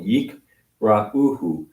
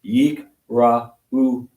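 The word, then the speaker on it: יקראוהו: Because the shva is there. Mhm. So that ends a syllable. Yikra'uhu. So 1, 2, 3. Oh, 1, 2, 3 vowel, 4 vowels, Mhm. 4 syllables. Yikra'uhu.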